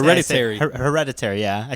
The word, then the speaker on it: Hereditary: We saw Heredity. I think I say it wrong. People say Hereditary.